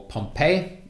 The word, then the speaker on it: Pompey: discussed enemy of rome pompey or pompeii typically gets pronounced pompey but you can choose really initially pompey is